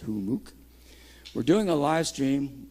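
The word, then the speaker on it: Humux: org run by hamuk h-u-m-m-u-x is how you spell it but it's pronounced humook we're doing a live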